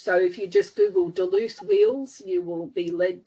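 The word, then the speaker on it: Duluth: That's spelled D U L U T H. So if you just Google Deluth wheels, you will be led to a website full of them.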